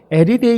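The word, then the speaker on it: ἐριθεία: 나누는 사람이라 그랬어요 여러분이 말이 헬라어로 에르데 이렇게 발음을 하는데이 말은 원래 경쟁을 하다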